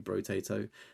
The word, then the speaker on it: Brotato: You've got Brotato, I think that's how you say it. Fair, respectable rarity there. Double stack on that one. I always think it's like Boruto, but it's not. It's literally Brotato.